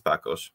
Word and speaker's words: Parkosz: And my surname is Parkosz. I'm from the University of Łódź. In Polish pronunciation, it is Łódź.